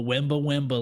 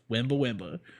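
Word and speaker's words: Wemba Wemba: it comes from the wimba wimba language okay and it's spelled exactly how it sounds yeah w-e-a-w-e-n-b-a-w-e-m-a wimba wimba you know i watch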